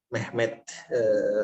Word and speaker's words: Mehmet: Kalau bahasa Turkinya M-E-H-M-E-T, Mehmet.